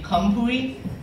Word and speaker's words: Khamphouy: that in eighth grade because it's pronounced actually kampui but in eighth grade